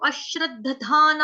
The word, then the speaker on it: अश्रद्दधाना: देखो आप लोग ना संस्कृत को भी हिंदी की तरह ही टोटली पढ़ोगे तो फिर क्या फायदा इतनी मेहनत करवाने का मेरा। मैं बोल रही हूँ अश्रद्धाना, आप बोलो अश्रद्धाना। देखो थोड़ा सा दम लगाओ ना।